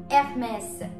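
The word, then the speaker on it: Hermès: again is a luxury brand and that is FMS remember in French we do not pronounce the edge it is always silent and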